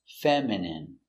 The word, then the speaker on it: feminine: femin femin feminine feminine feminine stress on the first syllable feminine feminine your dog